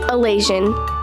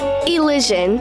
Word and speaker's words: Elysian: So last week's word of the week was Elasian. I have to side with Remy. It is a real word. However, it is pronounced Elysian, but it would be